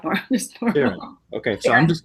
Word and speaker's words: Sharon: Sharon? Like People say Sharon? it the French way. I just prefer it Sharon, like more just normal. Sharon.